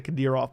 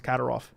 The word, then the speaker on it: Kadyrov: I used to say Kadyrov, but it's Kadyrov.